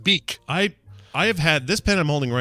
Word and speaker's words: Bic: So they're pronounced beak.